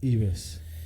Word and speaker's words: Yves: Se escribe Yves, ¿ya? Con Y, Yves Congar. Yves. Y como Yves Saint Laurent, como los perfumes, ya estábamos hablando de perfume antes de...